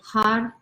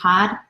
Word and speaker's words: Har: So the idea is you want to feel almost like your tongue is tapping the roof of your mouth. I'm not asking you to really roll your R's, but you're giving a nice little tap. So it's almost like you're saying Had, Had, Had, okay?